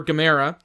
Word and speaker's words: Gamera: When they go searching for Gamera, That's right, Gamera. You pronounced it correctly.